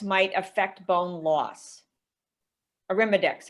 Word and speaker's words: Arimidex: okay um understood and then are are there any studies that say aromadex might affect bone loss arimidex excuse me i pronounced it wrong yeah aromadx is one